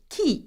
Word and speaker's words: qui: how to ask questions with the French word key which means who now we know that that